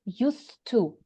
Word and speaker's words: used to: pay attention to pronunciation we say used to uh uh it's not used it's used to mhm it's like short mhm uh to talk